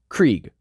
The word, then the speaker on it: Krieg: Krieg, pronounced like the ending of Blitzkrieg.